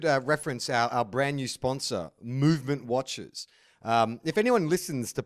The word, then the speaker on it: MVMT: It's spelled MVMT, but pronounced Movement.